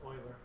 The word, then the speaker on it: Euler: um by me it's Oiler yes yeah that's do you ever wonder his name is pronounced Oiler but do you ever wonder